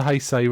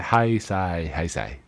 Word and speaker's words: Heisei: This is the last of the Heisei run. I finally learned how to pronounce it properly. Yes, After only 6 movies, I finally... Heisei.